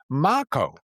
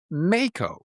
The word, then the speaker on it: Mako: His name, according to Wikipedia, again this is a surface level find and I didn't dig any deeper, is pronounced Mako, not Meco.